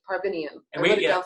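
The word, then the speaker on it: Parviainen: He has a studio called Counterpoint, and his last name is pronounced Parvinian. He's Finnish. He's Parvinian.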